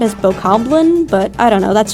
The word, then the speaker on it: Bokoblin: One of them is being attacked by a Bokoblin group. By the way, is that how you say it? I've heard it being said as Bokoblin, but I don't know, that's just how I've been saying it my whole life.